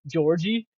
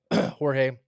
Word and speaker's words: Jorge: Carlos Carlos Jorge. Jorge. Yep. What do you think about him? And I said that right. You Imagine I did. said Georgie. Even worse than George.